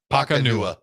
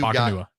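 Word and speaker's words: Nacua: Somehow you get three syllables and four letters. Paco Nakua. Pakanua. There we go. That's what it is. Pakanua.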